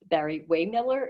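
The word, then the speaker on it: Barry-Wehmiller: Barry Waymiller, is that how you pronounce it?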